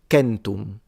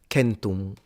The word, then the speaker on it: centum: And then the C was a K, and so it would be pronounced kentum, kentum.